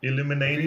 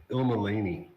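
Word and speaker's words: Illmalaini: Illuminati? It's pronounced Ilmalani. Yeah, you gotta pronounce every letter.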